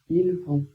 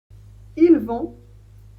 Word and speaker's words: ils vont: Ils vont, elles vont, ils vont, elles vont. Ici, on ne prononce pas les S, il a pas de liaison à faire, il commence par un V.